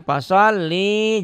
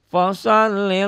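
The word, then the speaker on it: فَصَلِّ: Ain Inna aainakal Kautsar fasholli lirab jangan folli jangan fashalli lirabbika wanhar innasya innasyaani aka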